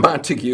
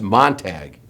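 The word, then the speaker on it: Montague: Not Montigue is actually pronounced Montag in Texas.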